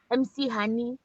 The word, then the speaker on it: McHoney: My name is McHoney, MC Honey, pronounced as McHoney.